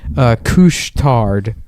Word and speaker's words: Couche-Tard: They have a place that's called Couche-Tard. That's the name of it. But couche is spelled like douche with a C.